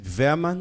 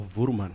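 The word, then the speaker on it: Woermann: But in German it's Verman. It's Verman.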